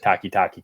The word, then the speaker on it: Takitaki: It's funny, out of all I think I mispronounced his first name, but I said Takitaki correctly. I think Sione's correct. Is it Sione?